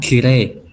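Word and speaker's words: きれい: Nah, Oh, itu tulisannya kirei, kirei. Tapi dibacanya kirei ya, cantik. I see. Oke, oke. Bukan kirei ya bacanya, bukan kirei. Ya, Tapi kirei. kire.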